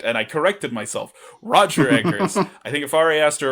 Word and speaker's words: Eggers: Roger Eggers.